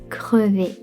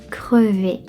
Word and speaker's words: crevée: Je suis crevé. J'ai travaillé toute la journée. Je suis crevée après cette randonnée. Je suis crevée. If you are a female, add the end of crevé. But same pronunciation.